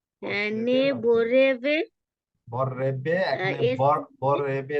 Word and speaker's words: vorrebbe: amore non possiede ne vorrebbe বররেবে এখানে essere বররেবে না normal ভাবে বললে হবে না বররেবে ঠিক আছে বিপ্লবে করবে বররেবে vorrebbe essere posseduto poiché l'amore basta all'amore.